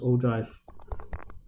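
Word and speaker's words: ogive: distribution table okay now o drive this is pronounced o drive okay and o drive is also a derivative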